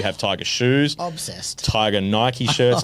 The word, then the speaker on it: Nike: of the contract with Nike yep Nike right Nike sorry my apologies God you're sensitive about that just how it's pronounced Nik no it's Nike goddess It's a Great Goddess of Victory goddess of Victory is